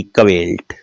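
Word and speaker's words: quill: क्यू यू आई एल टी कवेल्ट।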